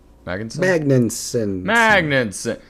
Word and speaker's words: Magnussen: Magnussen.